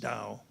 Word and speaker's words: Tao: world religion called Taoism and in Taoism the Dao Dao Dao it's actually spelled to be typically but it's pronounced Dao in the Dow is kind of like what